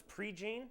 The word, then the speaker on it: Prejean: Do we decide it was Prejean? That's how it's pronounced? I believe so, yes.